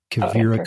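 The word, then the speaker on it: Quivira: I'm not sure if you're familiar with the Cavira Coalition. No, but they Oh, you need to look them up. They do. How do you spell that? Q U I V I R A Kira Coalition and it mostly in the western US.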